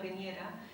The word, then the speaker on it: Piñera: And at first I had to learn how to pronounce it, but Don Bernardino Piñera.